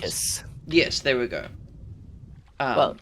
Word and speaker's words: Deinonychus: I cannot remember how to pronounce... Deinonychus.